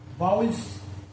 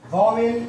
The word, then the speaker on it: vowels: को हमने नाम दिया वाउल्स. आप इसको वावेल या भावल नहीं कहेंगे, दिस इज वाउल्स.